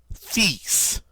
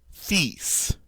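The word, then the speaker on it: fils: doesn't it alright uh cease ah cease right notice we don't pronounce the L at all but we do pronounce the S and it's weird because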